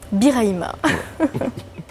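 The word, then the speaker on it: Birahima: Prononcé Biraïba. Biraïma.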